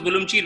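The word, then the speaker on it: Ürümqi: places called turfan or turpan uh uh it's pronounced as vulum cheat written as a urum kui uh and then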